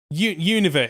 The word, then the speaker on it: Unova: Apparently, I've been pronouncing Unova wrong. Unova. Unova is how you're supposed to.